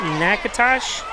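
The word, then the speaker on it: Natchitoches: leg says that uh it's nakatosh is that how you say that's pronounced yeah that's why I always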